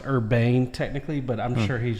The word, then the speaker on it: Urban: But no, if you've ever seen him interview, because I believe his last name's actually not pronounced Urban. I think it's pronounced Urbane.